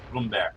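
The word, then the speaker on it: Brummbär: like that pronounce the tank learn how to pronounce for German tank the bromar Noom bear bear Bloom bear the Blom Bear yes Bloom bear and speaking of Tanks going out here of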